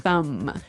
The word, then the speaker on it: thumb: So, the pronunciation here, do you say the B at the end of this word? No, I actually only pronounce the M.